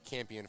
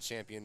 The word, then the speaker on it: Campion: Anyways, but yes, we will always pronounce her name Campion from now on. It is not Champion, nor will it ever be.